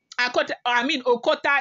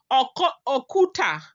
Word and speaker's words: Okuta: Well, let me spell it for you. Okota is Okuta, O-K-U-T, and I-P-I-N-N-A, okay?